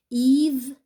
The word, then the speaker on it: Yves: Yves, aussi le S.